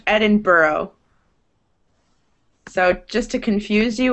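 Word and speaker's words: Edinburgh: in in Britain that end in that GH but are pronounced kind of like the word thorough so it's Edinburough not Edinburg um okay keep reading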